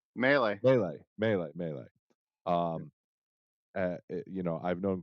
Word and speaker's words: Mele: I think you've told me like Melee, melee.